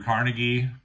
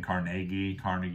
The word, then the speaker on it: Carnegie: Next, I have Andrew Carnegie. You'll hear some different pronunciations of his name. Carnegie, I always go with Carnegie.